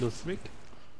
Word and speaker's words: Lothric: Grand bouclier de Lost Freak. Bon, moi je dis Lost Freak, hein, je prononce ça à l'anglaise.